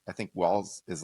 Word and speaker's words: Walz: Not Waltz. I think it's Walz.